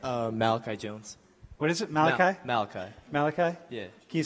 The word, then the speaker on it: Malachi: what's your name Malachi Jones what is it Malachi Malachi Malachi yeah you say his name Malachi